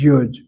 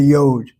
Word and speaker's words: yud: In this classroom, we pronounce that letter as Yud. If you go to a Christian hall of learning, the pastor will call the letter y the yode. The yode letter, ladies and gentlemen, the yode letter. Leon kind of smiles. Christians pronounce it as yod.